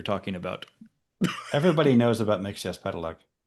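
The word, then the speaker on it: Mxyzptlk: Mixes Pedelec.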